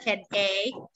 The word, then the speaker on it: headache: Have you watched the comedy class about teacher Pansy?Headache, she pronounced hiyadache. Chai Mai, have you heard that one? It's a comedy in Thailand. She pronounced the word headache into hiyadache.